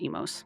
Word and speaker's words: Oimos: In modern Elven, it's pronounced Emos, that OI. That's why Oimos is old-fashioned.